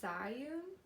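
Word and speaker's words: Zhiyun: love this thing so much it is the Zion Zion I don't know if I pronounced that right but Zion z-h-i-y-u-n Zion smooth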